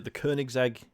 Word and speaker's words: Koenigsegg: But I can't pronounce this car, Sean, but you're finishing off the what exactly? The Koenigsegg.